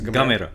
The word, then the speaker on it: Gamera: How do you pronounce it? It's Gamera.